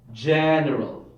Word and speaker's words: general: in a natural way General clear general not gal why because teacher you told us that we have to stress put the stress of the first syllable so we just copied